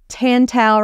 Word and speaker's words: Tantau: The title is Tantau rhymes with wow, because that's how I remind myself to say their name correctly.